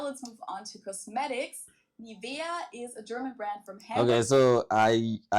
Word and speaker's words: Nivea: English native speakers usually say Nivea. Nivea. In German, we say Nivea. Nivea. Yeah. Nivea. So, the emphasis is on the E.